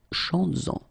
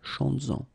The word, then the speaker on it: chantes-en: Chantes-en, okay, could be chantes-en une, chantes-en. Alright, so keep in mind that you will have to keep this S, z, chantes-en, okay, to have this link between the two.